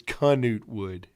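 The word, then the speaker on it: Knute: I'm seeing this name, seeing how it's pronounced. I got to correct it. I was corrected, and I told everybody's name's important to get it right, and it's Canute. It actually is pronounced differently. You look at it, it looks like you're looking at Newt Rockney, like Notre Dame, but Canute, that young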